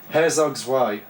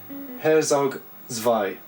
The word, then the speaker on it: Herzog Zwei: of people really recommend for the Mega Drive Herzog zwei Herzog zwei I think that's how you pronounce it Herzog Vai maybe yeah Remi didn't get on with this